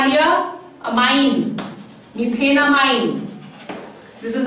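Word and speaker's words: methanamine: Let's see, अगर हमारे पास है CH3 NH2, the root word over here meth, ane, e खा लिया, amine, methenamine. This is how you pronounce it, methenamine.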